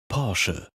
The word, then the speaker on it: Porsche: Số 9 - Porsche Ở Mỹ, rất nhiều người nói Porsche hoặc thậm chí rút ngắn nó và nói Porsch. Nhưng rõ ràng, công ty thậm chí còn làm video về cách phát âm điều này trong khi quay lại.